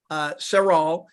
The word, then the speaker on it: Serral: And that brings me to my very special guest today, Elliott Serral. How do you pronounce it, Elliott?